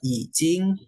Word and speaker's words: 已经: Cara bacanya adalah I biasa, Jing ini tuh C ya, Yijing ya, Yijing. Nadanya nada 1, nada 3-1.